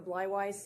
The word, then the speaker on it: Blywise: you foreign good morning my name is blywise it always rhymes with fried rice when you see it